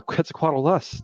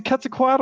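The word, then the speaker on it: Quetzalcoatlus: yes yes yes so Nethers was super confused because of the extra syllable he thought I was being a flandy and just saying wrong so he's like you catch quaddles no you don't know what quetzalo I was like no quit's a quadalus there's another syllable there they're like dinosaurs like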